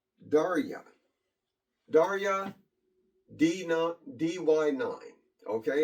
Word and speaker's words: Derya: This right here, not loaded, is, I think it's pronounced Derya.